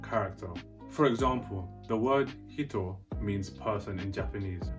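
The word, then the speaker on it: 人: means person in japanese by adding a smooth character between the he and the toe it will then become pronounced so do you hear it different and hitto means hit as in hit in japanese so can you hear the difference there's hito which is person and there's hitto you hear the difference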